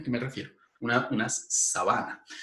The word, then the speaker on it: sabana: palabra esdrújula si sábana mientras que la palabra sábana que tiene la prominencia central en la penúltima sílaba es decir es una palabra grave sábana esa palabra significa otra